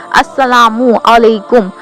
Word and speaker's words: अस्सलामु अलैकुम: तो सलाम का मीनिंग है, पहले तो हम प्रोनाउंसिएशन गलत करते हैं, अस्सलामु अलैकुम। अस्सलामु अलैकुम, अस्सलामु का मीनिंग होता है सलामती हो।